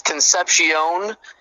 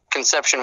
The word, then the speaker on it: Concepcion: I think that's how you say his name. Technically it's Concepcion, but Conception works as well.